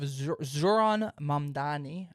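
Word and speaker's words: Zohran Mamdani: And um we have Zoron Mandani. I hope I hope I think I pronounced that.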